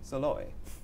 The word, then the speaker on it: Szalay: at the tata literature live festival is david solo is that correct am i pronouncing is pronounced e and very well yes